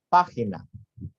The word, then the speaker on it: página: Para que exista una palabra esdrújula, es necesario que la palabra tenga al menos 3 sílabas. Por ejemplo, página.